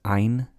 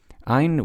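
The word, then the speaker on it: עין: Ein, we've kind of lost the pronunciation of Ein over time, but more often than not, it seems to be pronounced as an Ah.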